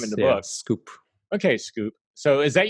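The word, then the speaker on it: skwp: find me on Twitter s kwp pronounced scoop s kwp what is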